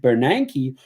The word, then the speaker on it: Bernanke: Yeah, Bernanke.